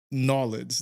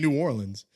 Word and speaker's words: New Orleans: Like they're not saying Nolans. They're saying New Orleans.